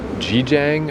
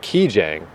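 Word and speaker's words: Gijang: you pronounce it and it's like key Jang with a k sound so uh I looked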